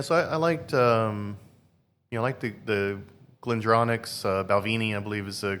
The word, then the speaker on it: Balvenie: Yeah, so I liked, the Glendronach's, Balvenie, I believe is the correct pronunciation as well.